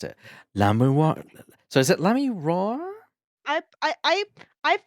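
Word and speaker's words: Lamiroir: So is it Lamiroa? I've pronounced it. There are many people pronounce it many different ways, but the most consensus I see is Lemuel. Lamiwa. Like that.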